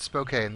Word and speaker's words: Spokane: sister have been flight instructors in flight simulator pronounced Spokane that's where I got my uh pronunciation from